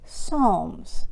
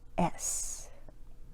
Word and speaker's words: Psalms: Psalms. The P is silent.